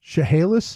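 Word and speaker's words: Chehalis: Shahala nearby chahalis M that's how that City pronounced chahalis chahalis yeah I I always you knock apples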